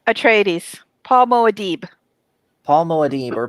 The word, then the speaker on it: Atreides: Paul, how do you pronounce it? Tradies. Atreides.